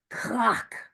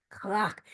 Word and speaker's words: crack: So we're saying clock like crack, except clock, right? So it's spelled crack, C-R-A-C-K, but it's pronounced clock, clock.